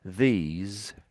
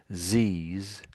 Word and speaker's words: these: This one went a little bit like these. And I think that's how you said it originally down here. These. So try to get the th again.